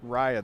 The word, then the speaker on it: Raya: Okay, Raya, that's how you say.